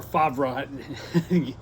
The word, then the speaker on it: Favre: this before but Brett Brett Favre was uh or favra go figure out if if you're not familiar with the name it doesn't make any sense how he pronounces it but the thing